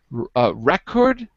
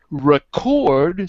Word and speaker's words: record: Record is a noun. Record, second syllable, is a verb.